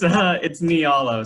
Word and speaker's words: Nialo: It's Nialo. So it's knee like your knee, all like all the people on the Zoom call, and O like the letter.